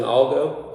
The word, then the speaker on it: algo: A hard G sounds like a G. A soft G sounds like a H.